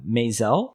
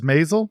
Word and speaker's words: Maisel: He was also in The Marvelous Mr. Mazel, or Mazel. The Marvelous Mrs. Maisel? Oh, yeah. Is that how you pronounce it?